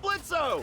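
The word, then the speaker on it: Blitzø: Hey, that sounds like Blitzo! The O is silent, asshole!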